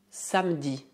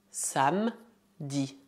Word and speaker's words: samedi: Essa é uma palavra bastante simples de pronunciar, tendo como única particularidade que o E é geralmente mudo. Portanto, dizemos samedi, samedi, samedi. Podia haver exceções dependendo da região da França, mas a regra é dizer samedi e não samedi.